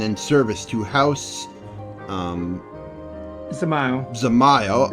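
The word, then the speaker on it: Dzemael: Zamael The D are is silent. Zamael are contributing to the restoration of Falcon's Nest.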